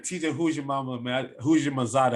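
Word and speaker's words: Houshmandzadeh: who's your mama man who's your masada that's how you say his name but he was one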